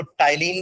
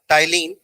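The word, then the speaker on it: ptyalin: इसका एक नाम और लिखना, इसको टाइलिन भी बोलते हैं. P silent, P टी वाई ए एल आई एन.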